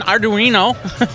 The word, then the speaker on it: Arduino: If you have any questions on Arduino, I'm getting used to that.